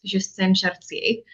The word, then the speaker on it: Justine Chartier: Yeah, I can definitely say my name in French. Do you want me to say it right now? Yeah. My first name too is actually in French, so it's Justine Chartier.